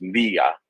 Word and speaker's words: Mriya: I know it's Mria. Maria, Yeah, Maria, like Maria without an A.